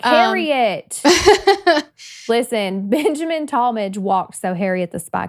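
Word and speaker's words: Tallmadge: Yeah, I think it's Talmadge, maybe.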